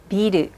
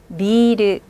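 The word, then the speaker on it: ビル: 일본 사람들 빌딩을요. 비르라고 발음해요. 같이 읽어볼게요. 비르. 그런데 맥주 같은 경우에도 빌딩하고 똑같이 써 있죠. 그런데 중간에 작은 표식만 있을 뿐이에요. 맥주 읽어볼까요? 비르.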